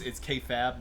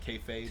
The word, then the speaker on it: kayfabe: K oh it's kayfab, not kayfabe. Yeah, that's what they say it's pronounced, and it sounds like it's the easiest one to say.